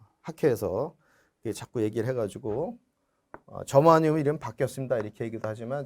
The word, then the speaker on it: 저마늄: 이것을 뭐 2000년 이후가 가면서 아 이건 뭐 저마늄이라고 합시다 하는 거 학회에서 자꾸 얘기를 해가지고 저마늄 이름 바뀌었습니다 이렇게 얘기도 하지만 저마늄은 저 영어 발음이고요 게르마늄은 독일 발음입니다.